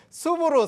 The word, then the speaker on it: SOOP: 네, SOP가 이제 숲이라는 숲, 그쵸. 네, 발음이 이제 숲인데 숲 어때요?